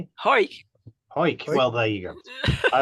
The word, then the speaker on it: Cuijk: From I have to pronounce this. Cuijk, is it spelled Cuijk? Hoik.